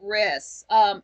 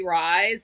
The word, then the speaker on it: Rys: I guess it's pronounced Riss. Jeremy Rys. I thought it was Jeremy Rise, like Rise, but Frank pronounced it like it's Riss.